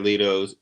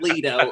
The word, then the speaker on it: Jared Leto: ] name stop it it's not leto it's jared leto stop it you [